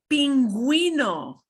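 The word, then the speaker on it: pingüino: And this is even lower frequency, but some of the words that you may hear most frequently, it means we do pronounce the U. Here are the words, pinguino.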